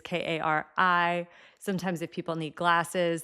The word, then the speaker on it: Kari: kind of typical fashion, it's a Norwegian name. I apparently don't even pronounce it totally correctly as like a Norwegian person would. I don't know how to make the right sounds actually. Kari is about as close as I can get.